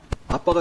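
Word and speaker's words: ἀββα: 예, 아바, 아버지. 여기 아바가 이게 스펠링이 어떻게 되냐면요, 알파, 베타, 베타, 알파예요. 그러면 뭐예요? 정확히 발음하면 아빠가 되는 거예요.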